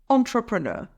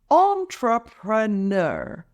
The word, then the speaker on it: entrepreneur: entrepreneur or developing your own online store it's pronounced as entrepreneur let's break it down entrepreneur emphasize the third syllable FR practice with me